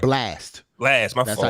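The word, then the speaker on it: Blxst: That's how you No, pronounce it, right? Blast. Blast.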